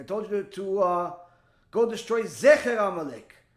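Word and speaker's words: זֵכֶר: Although it's spelled exactly the same, the vowels, the nikud, are slightly different. Whereas Zecher, which means the memory of Amalek, has the 2 dots. Zachar has the little plus, upside down plus sign.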